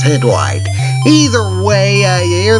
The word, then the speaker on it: Hydlide: everybody and welcome to hide lighter May it's pronounced head white he's a way I hear that music it's